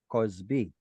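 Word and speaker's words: כזבי: Did everyone see the Kamatz Katan that Cheryl caught herself saying or caught herself reading? Closed, unstressed syllable, Cosby.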